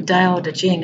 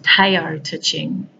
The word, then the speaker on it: Tao Te Ching: Daodejing, or it's Tao Te Ching. So Taote, and then Ting. Can be pronounced either way.